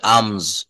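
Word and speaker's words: alms: এল এম এস আলম এটা বলতে হবে। আম এলটা কিন্তু এখানে সাইলেন্ট।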